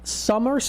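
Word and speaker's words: Sommer: sports cards so it's called Summer sports cards spelled with an O instead of a u it's summer s o m m e r sports cards and if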